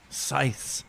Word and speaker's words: scythe: holding they're wielding um scythes all day what is it called again a sigh yeah Scythe there is it you pronounced it th yeah I think so Scythe